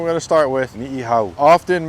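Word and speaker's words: Niʻihau: Often mispronounced as Ni Hao. Let's break it down a little bit, yeah? The two I's, pronounce it as I, yeah? Ni'i. There's two. Not just one, but two. The second part, Hau, not How. Can you hear that?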